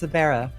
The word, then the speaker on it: Sabera: That is how you pronounce it. It's Sabera.